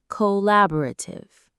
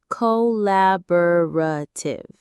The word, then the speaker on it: collaborative: It has five syllables. Co bo rative. Again, co lab boative. The stress is on that second syllable la. Collaborative.